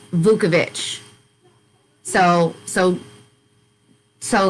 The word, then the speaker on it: Vukovich: was in 2016 and his last name is pronounced vukovich so so so like